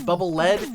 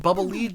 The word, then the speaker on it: Bubble Lead: of people mispronounce as bubble lead it's not that the bubbles are made of lead they're called bubble lead because they're supposed to lead you using the bubble so